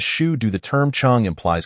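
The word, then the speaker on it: 成都: i n the Shu dialect chingu is pronounced as Shu do the ter term Chong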